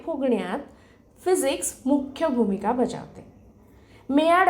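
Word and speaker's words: Maillard: physics मुख्य भूमिका बजावते मेड अभिक्रिया जस स्पेलिंग आहे एम ए आय एल एल ए RD reaction पण उच्चार थोडा वेगळा आहे आणि कॅरमल यांसारख्या रासायनिक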